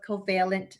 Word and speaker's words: covalent: here on behalf of covalent spirits so you did pronounce it correctly the first time it is covalent spirits a little bit about